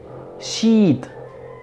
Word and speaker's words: sheet: Hoja en inglés se dice sheet. Sheet. Hay que usar vocal larga, porque si usas vocal corta, queda otra palabra bastante desagradable.